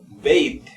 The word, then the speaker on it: bathed: Entonces acá tenemos, por ejemplo, bathed. Esta, acuérdense que era como una D fuerte y aquí doble D. Bathed.